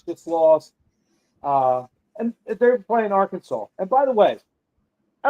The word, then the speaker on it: Arkansas: But when you see Arkansas, it looks like Kansas. But they pronounce it Arkansas.